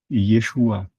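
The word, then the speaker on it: ישוע: Yod et shin vav et se prononce Yeshua, autrement dit Jésus, ce qui signifie littéralement sauveur.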